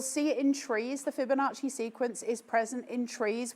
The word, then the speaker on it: Fibonacci: How to pronounce it? Fibonacci. It's Fibonacci.